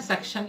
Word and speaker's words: सक्षम: और उनका वो है ना मेरा नाम ढंग से प्रोनाउंस नहीं कर पाती थी। बहुत सारे टीचर ऐसे जो मेरा नाम पहली बार में प्रोनाउंस नहीं कर पाते हैं, तो वो है ना सक्षम की भाई बुलाती थी मेरे को, ठीक है ना।